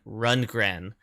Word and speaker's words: Rundgren: just looked it up it was saying his name was pronounced like runr so I'll I'll say it like that and you guys can